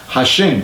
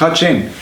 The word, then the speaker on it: Hashem: del verdadero nombre Entonces le llamaban hashem que hasta el día de hoy por supuesto lo pronunciamos hasen y ese nombre que